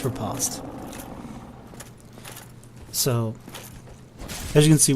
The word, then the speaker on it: riposte: Parrying and then riposting, which is spelt riposte, but it's riposte.